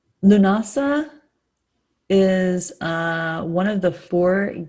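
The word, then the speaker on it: Lughnasadh: I did not know how to pronounce this one. Lunasa. It's just Lunasa, which is really beautiful.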